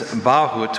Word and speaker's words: bahut: The Baron's bahut was covered in leather tooled with his family crest.